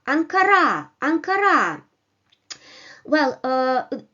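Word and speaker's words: Анкара: Ankara Ankara well uh in the first position uh the capital r is not stressed it doesn't have the upper Mark the upper bar so it comes in an unstressed position while in the second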